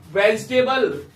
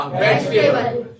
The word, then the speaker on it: vegetable: वेजिटेबल, Veg. वेजिटेबल नहीं होता, ई जो होता है इसमें साइलेंट रहेगा, ये बन जाएगा वेज, ये बन जाएगा टेबल। क्या बन गया? वेजिटेबल। क्या बन गया? Vegetable.